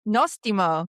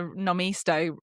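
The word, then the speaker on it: νόστιμο: Nostimo. Woo! Wow, this is might be the first time that you're saying it right from the first go. You saw the hesitation as I got the nomisto and then I was like, "You know?"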